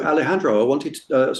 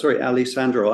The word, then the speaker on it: Alessandro: So Alejandro, Alessandro, I have a friend called Alejandro, and I keep mispronouncing it, Alessandro.